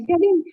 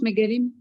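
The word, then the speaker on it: מגלים: Comment ça s'écrit? Mégalim, comme ça se prononce, Mégalim.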